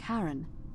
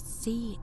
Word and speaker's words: Charon: The name you heard wasn't Charon. It was C-H-A-R-O-N, as in Charon, the ferryman of the dead.